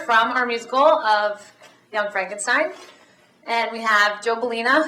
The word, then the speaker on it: Frankenstein: you startled me that's Frankenstein my name it's pronounced Frankenstein you are pulling my leg no I'm I'm